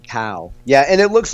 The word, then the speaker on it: Cao: but anyway hung and how would you say it again cow would you say it that way yeah I yeah I would pronounce it cow yeah and it looks